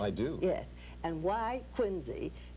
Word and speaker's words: Quincy: And why Quincy, pronounced with a Z, why they have their church named after Turk, nobody knows.